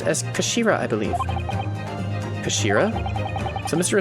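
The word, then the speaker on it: 頭: he's written as head in Japanese but it's pronounced as Kashira I believe Shira so Mr asoki's pores really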